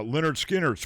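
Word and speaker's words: Lynyrd Skynyrd: Uh Leonard Skinnard's pronounced Leonard Skard.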